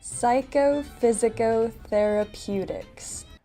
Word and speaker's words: psychophysicotherapeutics: Psychophysicotherapeutics. Well, we're going to break this down. Psycho, physico. A lot of people say psycho, but it's in English it's psy. Psycho, physico, therapeutics. Here with pew.